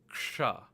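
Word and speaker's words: क्ष: of the ksha sound, but it's not the best example because action, the sha in action, is palate based, whereas the sha in ksha is retroflex. So to properly pronounce this letter as ksha, ksha.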